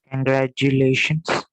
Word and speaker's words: congratulations: I want to stress on the fourth syllable. Ma'am, can I try? Yes. Congratulations. Yes, almost right. It is congratulations. Congratulations. See, you can highlight, you can hear that lay separately. That is how you stress on a particular syllable.